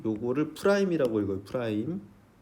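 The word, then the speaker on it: f′: f 요거를 프라임이라고 읽어요. 프라임 점 f 프라임 x 이렇게 쓰면 f x의 f 프라임 a 미안해요.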